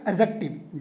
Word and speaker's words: adjective: अगला एडजेक्टिव है अगला क्या बोलिएगा एडजेक्टिव डी साइलेंट रहेगा एडजेक्टिव एडजेक्टिव क्या होता